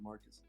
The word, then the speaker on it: Marcos: It's actually Marcos, but I pronounce it Marcus.